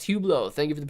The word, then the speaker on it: Hublot: you go hublot we're talking hublot brendolero call pronounced hublot thank you for the pronunciation there really appreciate